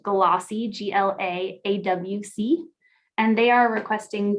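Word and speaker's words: GLAAWC: The project title is 2022 Great Lakes African American Writers Conference, pronounced GLAWC, G-L-A-A-W-C, and they are requesting $10,000.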